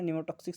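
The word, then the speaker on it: pneumotaxic: तो क्या होता है न्यूमो टॉक्सिक सेंटर है ना निमो टॉक्सिक सेंटर पी साइलेंट नमो टॉक्सिक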